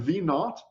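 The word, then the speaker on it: V₀: plus your final velocity when we have V naught then putting a zero next to it like that as a subscript we pronounce that V naught and the zero just means not but that also means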